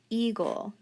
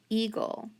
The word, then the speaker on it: eagle: the next word eagle eagle how would i code that word final syllable g l e cross off the e and then e that's digraph ea so it's a long e silent a eagle eagle and where's that